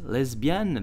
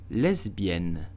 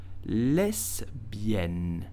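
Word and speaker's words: lesbienne: sexual orientation okay so English pronounce it lesbian but ah French pronounce it correctly you will simply say lesbian Les bien less bien lesbian did you know that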